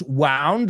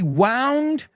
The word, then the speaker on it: wound: So, another word that's spelled the same but pronounced differently. Did you notice the past tense wound looks like another word?